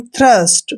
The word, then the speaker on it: thirst: और यहाँ पर देखिए THIRST, इसको पढ़ते हैं हम थ्रस्ट। थ्रस्ट मीन्स क्या होता है, प्यासा। तो यहाँ पर टी का उच्चारण हमने थे किया है, क्योंकि टी के साथ